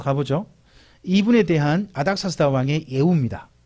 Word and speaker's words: 아닥사스다: 아닥사스다는 아르타크세르크세이스라는 말에 우리나라식 그냥 짧게 발음한 겁니다.